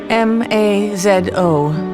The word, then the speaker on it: Mazo: M A Z O pronounced Mazo. Dear Rash rhymes with Fosch.